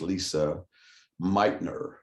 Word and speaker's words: Lise Meitner: squared but this is lisa meitner and it's not lisa it's l-i-s-e it's still pronounced lisa meitner she uh got the